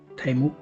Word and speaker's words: ThaiMOOC: ผ่าน ระบบ เว็บไซต์ ของ ไทยมุก อ่า แก้ ไข ครับ อ่าน ว่า ไทยมุก นะ อ่าน ว่า ไทมุก เป็น โครง การ มหาวิทยาลัย ไซเบอร์